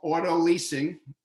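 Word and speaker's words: autolyse: period which he called auto leasing sounds just like us leasing a car but it's spelled differently if you do that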